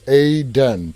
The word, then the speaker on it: Aiden: And Aiden told me it's pronounced Aiden.